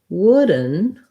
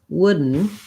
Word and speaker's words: wooden: wooden wooden wooden um i might not say wood then with two clear syllables the second syllable is going to be mostly just a syllabic n sound wooden wooden and i'm going to kind of swallow this d again using more of my stop d versus wooden wooden i